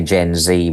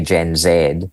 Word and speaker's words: Gen Z: So if you take the characteristics of what the Americans say Gen Z, we would say Gen Zed.